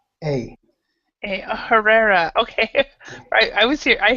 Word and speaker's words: Herrera: e r r r e r a a Herrera okay I was here I heard something completely